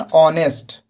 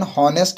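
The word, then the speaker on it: honest: लेकिन एच का उच्चारण ह ना होकर अ जैसा हो रहा है। जैसे एन ऑनेस्ट ना कि एन होनेस्ट इसको पढ़ते हैं।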